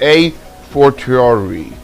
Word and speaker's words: a fortiori: How do you pronounce it? You need to understand it. It's a fortiori.